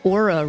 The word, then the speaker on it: Oura: If you're curious about tracking your sleep data, I highly recommend the Oura Ring, that's spelled O-U-R-A, as it gives just fantastic data about the amount of REM sleep, deep sleep, and so much more.